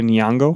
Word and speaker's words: Nyong'o: Is it Lupita Nyong'o?